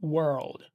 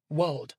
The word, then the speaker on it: world: Think about world. This word is a real tongue twister for many. And it's not world, like it's a way of pronouncing it. You need to get the R in there.